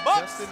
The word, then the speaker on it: Jostin: is the prospect that's Ortiz Justin Ortiz but they spell it j s t i n Justin Ortiz has been known